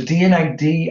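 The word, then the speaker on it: D&AD: The DNAD annual is pretty good. So DNID, Design and Art Directors Club, but it's spelled D and ampersands AD.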